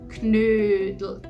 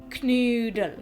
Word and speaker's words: Knödel: So, the dish is pronounced Knödel. Knödel.